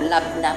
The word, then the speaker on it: labne: Labne nakasulat pero labna po ang pagbigkas nila.